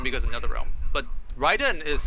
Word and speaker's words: Raiden: We're calling him Raiden because of NetherRealm, but Raiden is how you're supposed to pronounce that name.